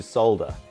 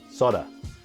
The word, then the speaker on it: solder: channel let's teach you how to solder or as they say in north america soda i have no idea